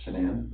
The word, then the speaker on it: Shanann: And I don't want to pronounce her name wrong, Shanann? Shanann.